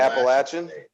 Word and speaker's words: Appalachian State: to say it right you got to pronounce it right first it's apple appalachian appalachian i got corrected a few